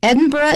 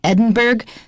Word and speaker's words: Edinburgh: institute in edinburgh scotland now edinburgh is the way they say it in scotland and in the uk in general in america most people would probably say edinburgh but because i know too many people who have lived there i've changed to edinburgh um the result of